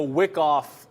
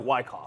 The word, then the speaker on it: Wyckoff: Like a wick off, like it's spelled like Wyckoff.